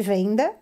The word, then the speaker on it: VNDA: Eu sempre chamei de venda, mas se escreve VNDA, tá?